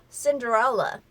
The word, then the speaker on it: Cinderella: 자, 그래서 신데렐라도 신데렐라 하고 딱딱 끊기지 않고 Cinderella, Cinderella라고 합니다.